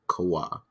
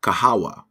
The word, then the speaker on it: Kahawa: Hopefully I did pronounce it right. Kawa. Kawa. I think Kahawa. Okay, I got you. Africa Kahawa blend.